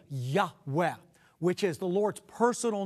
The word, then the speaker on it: Yahweh: Semitic Scholars feel that God's personal name which comes from the four Hebrew letters yud he VAV he is pronounced a breathy Yahweh that's the name of